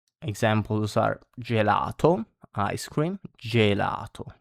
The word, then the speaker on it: gelato: So e or e in Italian it's pronounced like j in jam in uh English like examples are gelato ice cream gelato j gelato and jirro this means circle or circle around depending on the situation.